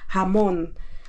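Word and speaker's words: jamón: Ito ang hamon. Hamon ha. Hamon ang bigkas.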